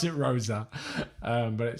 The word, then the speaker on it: Rose: coach as well um rose is spelt like rose right you pronounce it rosa but it spelt like